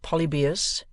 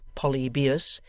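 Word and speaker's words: Polybius: traun and The antonines Stumbling at polybus pronounced Po beus and supposed by Mr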